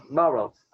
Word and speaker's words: Burroughs: Burroughs. Como se escreve? B-O-U-2-R-O-U-G-H-S, Burroughs. Como se tivesse um G-H-S no final. Burroughs.